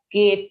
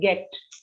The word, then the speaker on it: get: sounds too much because we tend to say gate it sounds almost like that but gate allah so you have to focus on some of these kind of pronunciations and then when i observe i'll keep telling you yeah so it's a shorter sound get did you get